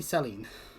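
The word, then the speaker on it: Céline: Damn the accent on the E. Anyway. Princess Saline. I look forward to meeting her. If it wasn't for that, it'd be Celine. But Just no, call her Saline.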